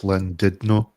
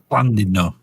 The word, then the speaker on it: Llandudno: Actually, I believe it's pronounced Llandudno. Llandudno. Yes. Llandudno.